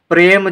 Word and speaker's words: प्रेम: प्रेम जब हम उच्चारित करते हैं तो प्रे किस तरह से आवाज आती है, प्रे, यानी कि आधे पा का उच्चारण होता है और रा के साथ